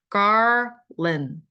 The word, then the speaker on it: garland: 근데 garland는 garland인데 RL 이게 한꺼번에 들어있는 단어는 사실은 우리나라 사람들은 발음하기가 좀 쉽진 않겠죠. 하지만 노력을 해야 됩니다. garland, garland.